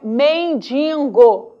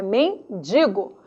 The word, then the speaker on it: mendigo: acentuação a matéria prosódica o certo não é mendigo é mendigo mortadela Ok treine tem de